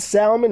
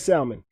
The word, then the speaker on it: salmon: Have you ever had Is fried salmon a thing? Yeah. Fried salmon. Why shouldn't it be? Am I Am I saying it wrong? I'm not supposed to pronounce the uh L, am I?